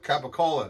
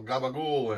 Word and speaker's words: capicola: gabba ghoul you know capicola they go gabagool and moots moots you